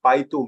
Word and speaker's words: Baidu: But then if you search on the Baidu map, which is like BAIDU, Baidu, it is. We call it its Chinese pronunciation is Baidu, but it's primarily Baidu actually. Baidu, that's what the world knows about it.